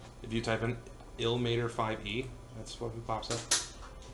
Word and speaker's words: Ilmater: I thought it was Lamater. I thought it was Lamar. It's not. Illumator? It's Ilmater because it's I-L-M-A-T-E-R.